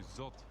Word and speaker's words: Zot: me the line to Zot. That's actually how you pronounce it.